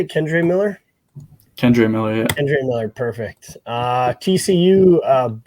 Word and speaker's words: Kendre Miller: Kendre Miller, yeah.